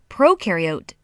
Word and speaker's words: prokaryote: is a big deal prokaryote the pro rhymes with no and they have no